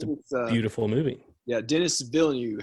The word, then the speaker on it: Villeneuve: Yeah, Denis Villeneuve. How do you say his last name, director? Denis Villeneuve.